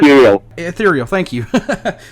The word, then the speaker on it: Ethereal: a different name called and I hope I'm pronouncing this right called e eal how eal ethereal thank you how how did you guys come